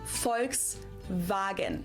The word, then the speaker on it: Volkswagen: So just imagine that it was spelled with an F and V instead. Folks vagen.